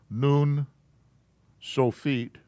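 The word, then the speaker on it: nun sofit: a noon so feet remember this u is pronounced oo noon so feet okay noon so feet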